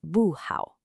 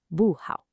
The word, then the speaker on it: 不好: For instance, 好 is a third tone, so not good is 不好. It falls, 不好.